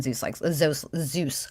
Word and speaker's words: Zeus: Okay, you don't rule out deistic gods or even Zeus likes God. I try to pronounce it like you, Allie, and my mouth just doesn't fucking do it. It's like a DZ sound, like Zeus.